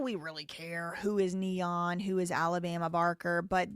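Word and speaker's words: N3on: There's a streamer, very famous streamer named Neon, and it's spelled instead of with a e and e, it's spelled with a number three. Neon.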